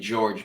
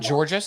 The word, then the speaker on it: Georges: I think the thing with, and the S is silent in George, by the way. It's not popularly known because you don't hear his name out loud much. But I don't know why it's spelled with an S. It's not Georges, it's George. It's just George. Yeah, I don't I know.